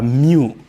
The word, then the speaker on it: mu: A mu.